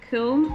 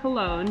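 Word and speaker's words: Köln: the german city of kilm or cologne depending upon if you want to do the german or the english pronunciation has a brewing history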